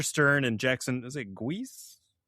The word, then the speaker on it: Guice: Now, I've always pronounced, since I was a kid, I've pronounced it Geis. Geis? Jackson Geis? Yeah. Jackson. I have no idea if that's right. It's literally, I'm just going phonetic from when I was 10 years old or whatever.